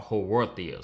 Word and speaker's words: Haworthia: They are called Haworthias.